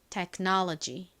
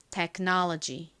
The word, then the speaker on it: technology: 나는 GY까지 쓰면 완성입니다 technology이 know 부분에 가장 센 강세가 있다라고 말씀드렸죠 한 번 더 연습해 볼까요 기술 technology technology 좋습니다 자 이제 마지막으로